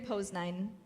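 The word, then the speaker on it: Poznań: in poland we're in pose nine pose nine okay and that's the proper pronunciation obviously i've been seeing pause and then in the news and stuff like that so well andrew says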